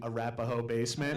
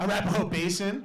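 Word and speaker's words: Arapahoe Basin: place and like the people laughing at me mispronouncing arapahoe basement yeah arapaho basin basement i think i call it the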